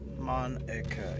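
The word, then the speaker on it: Monika: oh our say your so you pronounce it monica yes that's how you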